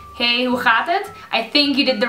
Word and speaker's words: hoe gaat het: Hey, hoe gaat het? I think you did the wrong setting for a translator. And that's not like, that's okay. That's okay. Just say it right now. Hey, hoe gaat het?